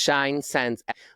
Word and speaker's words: ShineScence: Yeah, it's ShineScence, like essence, which is why it's spelled that way, because we want your essence to shine.